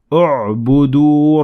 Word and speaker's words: اعبدوا: But when I started at the word اعبدوا, I had to pronounce the alif completely, like so. اعبدوا ربكم.